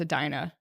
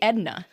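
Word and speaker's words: Edina: people in other states trying to pronounce Adina. No one No one could do it. Is that hard? You don't They all say Edna, which is ugly.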